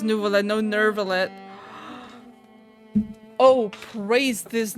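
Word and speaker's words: Neuvillette: New Pon actually says nuvallet.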